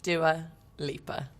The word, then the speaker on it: Dua Lipa: How is Dua Lipa pronounced? Dua Lipa.